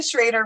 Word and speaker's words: Schroeder: Once again, Shannon Schroeder, rhymes with Darth Vader.